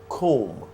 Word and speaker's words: comb: Okay, so you do not pronounce the last B.